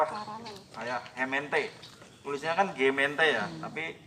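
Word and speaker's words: gemeente: Arab tuh ko jadi paralel W paralel Kak hement tulisnya kan gemente ya tapi pelpalnya kemente Cirebon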